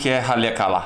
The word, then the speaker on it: Haleakala: Halakeala! Well, actually, we found out later it’s Haleakala! We mispronounced it all the time!